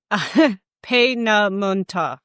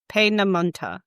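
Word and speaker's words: Peenemünde: One of the primary targets was the and I I got a how to pronounce this guide. Pam Monta Pamonta Army Research Center on the Baltic coast.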